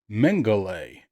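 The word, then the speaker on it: Mengele: take the time to look up how to pronounce that and it is Joseph mangay and I know I've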